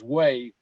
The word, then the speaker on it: Hue: This, if I'm not mistaken, is Way. It's spelled Hue. And there's some of the South Vietnamese Army troops. That's the flag of South Vietnam. There was a major battle in Way.